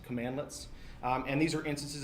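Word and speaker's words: cmdlet: That's how that's pronounced. Commandlets.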